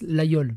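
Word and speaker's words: Laguiole: Donc la guiole, mais d'après ce que j'ai compris, ça se prononce l'aïeul. En fait, le G se prononce pas.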